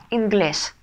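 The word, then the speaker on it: inglés: Инглес. Инглес. Угу. Ударение ставим на последний слог, на букву «э».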